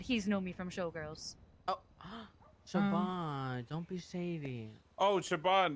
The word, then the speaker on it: Siobhan: I thought it was, I used to say Siobhan, he said Siobhan.